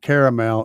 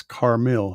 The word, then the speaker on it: Carmil: And it's not caramel, it's Carmil, Carmil. That's how his name is pronounced and spelled.